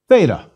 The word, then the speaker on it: theta: please repeat eta a theta theta is equivalent to th some choose to pronounce theta as an aspirated t but our t's in